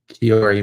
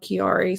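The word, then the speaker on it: Chiari: what it was called that I had um Kari malformation Ki malformation spell it it's spelled CH i a r i um it can be called Arnold kiari sometimes yeah there's there's a lot of people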